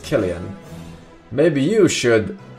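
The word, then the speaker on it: Cillian: on Batman roles okay it's pronounced killan maybe you should not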